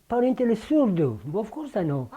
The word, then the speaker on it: Surdu: Parentele Surdu. Of course I know. Oh, all right. Well, Surdu, Surdu.